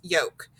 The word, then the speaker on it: yolk: to make that sound now look over here we have yolk it has an a an o or u yeah that has the o so it makes that silent yoke so that's a way